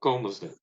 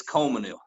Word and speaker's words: Colmesneil: do you say it Coleman ill comas it's it's it's Coleman ill now even people even some people in town say comas now some say Coleman ill but I think